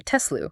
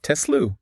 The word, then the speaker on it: Tesla: I know we hear it both ways, Tesla and Tazilu, but the name of Nicola Tesla, their namesake is actually Tesla. Tesla.